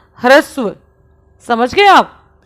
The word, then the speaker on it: ह्रस्व: पहला है ह्रस्व स्वर देखो इसका उच्चारण कैसे करते हैं ये हान होता है ना तो कोई हान ये ऐसे बना होता है ठीक है और इसके नीचे ये आर होता है ऐसे और इसमें हान जो होता है वह आधा होता है और आर जो होता है वह पूरा होता है इसलिए हम कैसे करते इसका उच्चारण hrasu समझ गए आप तो